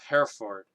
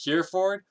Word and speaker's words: Hereford: then four like f-o-r-d so is it here ford or are you supposed to like modify its pronunciation just because you now put them into a compound word like could it be hera ford i didn't actually get this pronounced checked i'm going to say hera ford because i think that's how it's actually pronounced anyway the bishop of hereford